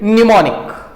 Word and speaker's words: mnemonic: M is silent, mnemonic.